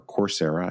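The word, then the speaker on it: Coursera: So uh easiest place to find that is on Corsera or Corsera I guess is probably the right way to pronounce it.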